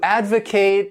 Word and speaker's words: advocate: This word has 3 syllables and the stress is on that first syllable, advocate. And to advocate means to show strong support for something.